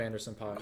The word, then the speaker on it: Anderson .Paak: a lot of Anderson .Paak. It was really good. Yes, that's right. That's the correct way It's to amazing.